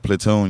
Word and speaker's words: Platune: a lot of people when they say like platoon you think of t o n or you know uh uh Army platoon you know you know but it's know it's spelled PL l a t u NE e like you know we making Platinum Tunes that's why you might